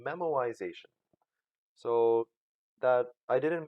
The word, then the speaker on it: memoization: approaches is to make use of something called memoization so that I didn't mispronounce it and I did not miss type it it's not I didn't mean to say memorization I did mean to say memorization and basically